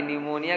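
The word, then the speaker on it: pneumonia: साल आ को न्यूमोनिया यह निमोनिया की स्पेलिंग है पीस साइलेंट है हां जब उसे निमोनिया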